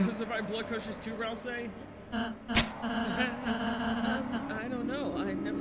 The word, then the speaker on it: Ralsei: Oh, by the way, apparently his name is pronounced Ralsei.